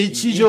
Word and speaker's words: Ichijo: Alors, je le prononce comment? Merde, c'est Ichijo.